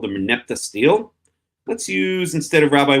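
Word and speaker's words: stele: and a steel or stelle I think it's really pronounced but I always pronounce a steel.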